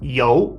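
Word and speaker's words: 尤: that building now the right side component is pronounced yo and it means excellent or outstanding so I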